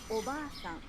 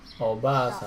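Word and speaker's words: おばあさん: The a in ba is held for 2 claps. Oba-san. Japanese learners often shorten the long vowel in ba and say Oba-san, meaning aunt, not grandmother. In this case, not only is the pronunciation incorrect, but by shortening the vowel, you change the meaning of the word.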